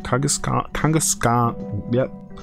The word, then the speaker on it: Kangaskhan: Kangaskhan.